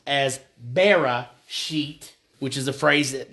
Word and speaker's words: Bereshit: But that first phrase, in the beginning, that comes from the word, well, the phrase, Bereshit.